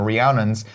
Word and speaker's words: Rhiannon: Rhiannon? Yeah. Apparently, like, everybody always says it wrong or something. I don't know how, I though. feel like it's a Fleetwood Mac song.